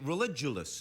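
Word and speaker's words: Religulous: here with Bill Mark who's a your documentary religous is that it's pronounced religous pronounced it correctly now is is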